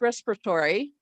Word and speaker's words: respiratory: And here, And this one is a schwa, and it's barely even pronounced respiratory. It is a syncopated schwa, whatever it's called. It means that we kind of drop the sound altogether.